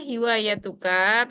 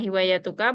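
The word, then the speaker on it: هوايتك: Ma hiwayatuka. Tadi bacanya ma hiwayatuka, bacanya ma hiwayatuk.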